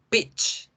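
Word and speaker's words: peach: Y si no lo pronuncian bien, pueden estar ofendiendo a una persona por querer decir que quieren un durazno. Pitch, pitch, pitch.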